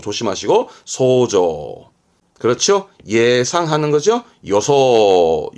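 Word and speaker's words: 予想: 대표적인게 이겁니다 상상하다 상상 시험 아주 많이 나오죠 발음은 소조 소조 조심하시고 소조 그렇죠 예상하는 거죠 요소 요소 회저 회상하는 회상 카이소 카이소음 감상하는 거죠 칸소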